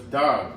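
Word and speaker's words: דג: And how you say it in Hebrew is dog.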